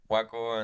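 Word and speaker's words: Joaco: Yeah, I gotta kind of like learn instead of Juaco with J, I gotta say like try to say Juaco with like a W. Okay. Juaco, and they kind of started getting it.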